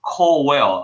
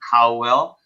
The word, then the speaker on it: Cowell: It's called Cowell. A lot of doctors are referring to it as Cowell, like C-O-W, Cowell, but it's actually Cowell. That's how it's pronounced.